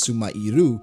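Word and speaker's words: スマイル: smile is written out in quotations, and the pronunciation in Japanese was sumairu, even in the Japanese raw version, just like how it's used now.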